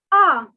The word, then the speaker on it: un: are so simple so the word for one is ah so if you are thinking something or anything you uh you make the sound ah so similarly the word